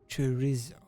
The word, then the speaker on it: chorizo: Chorizo. That's how you say it's in Spanish.